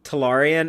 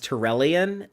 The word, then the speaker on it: Talarian: One thing that me and Dave talked about last week on the show, though, was how Patrick Stewart mispronounces the name Talarian as Tyrellian, and I was talking about how there's so many T aliens in Berman era Star Trek.